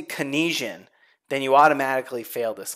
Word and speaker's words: Keynesian: And if you say Keynesian, then you automatically fail this class. It is not Keynesian. It's Keynesian. Keynesian.